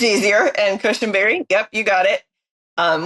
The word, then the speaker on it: Cushenberry: how are you doing today I hope I pronounced that correctly you can call me it's easier and cushenberry yep you got it um when I was